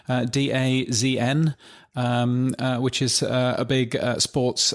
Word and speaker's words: DAZN: has been bought by, now is it pronounced DAZN or DAZN? DAZN.